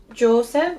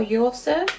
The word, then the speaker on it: Joseph: Um, and I'm taking, so this shade is Joseph or Yoseph, depending on how you want to pronounce that one.